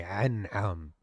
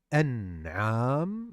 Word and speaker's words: An'am: I understand that the hamza is difficult to pronounce as English speakers, so you say an'am. The ayn is different. There's the a sound, so you say an'am. It's different than a.